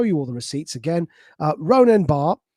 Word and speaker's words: Ronen: Again, Ronen Bar, it's spelled R-O-N-E-N, by the way.